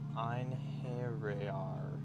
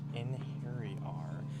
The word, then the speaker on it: Einherjar: Okay, it says Einherjar. Einherjar. So it's a hairy R. Einherjar.